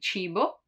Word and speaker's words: cibo: While when there is I or I, it's a soft sound, like in cibo, cibo, food, or cena, cena, dinner.